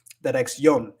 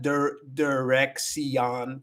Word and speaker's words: dirección: Dirección. It's the ending is yon. It's not dirección. It's not that. It's dirección. The last three letters are together. Yon. It makes one sound.